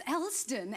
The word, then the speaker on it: Elsdon: It's Elsdon, and I always say that's so simple. Black names are so hard to pronounce, but you always get the poor man's name.